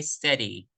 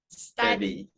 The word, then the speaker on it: study: And lastly, you say steady. Study.